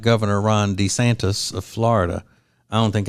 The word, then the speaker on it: DeSantis: I'm sorry, Ron DeSantis. That's how you pronounce it, DeSantis.